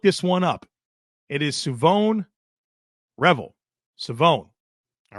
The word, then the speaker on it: Shavon Revel: All right, folks, let's get into this next prospect, and it will be Savon Revel, Savon Revel.